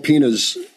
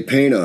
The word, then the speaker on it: Pena: people Conan forgetting Paul pina's uh pronunciation correct we've been able to verify this I know a lot of people look at it and say Pena and it's no it's it's actually pronounced Pina now he's Cape Verdean